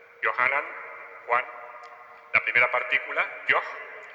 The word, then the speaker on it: Yohanan: El nombre de Juan, por ejemplo, el original es Yohanan. Yohanan, Juan.